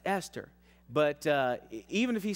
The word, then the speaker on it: Esther: We have told him 10 times, it's not Easter, son. It's Esther.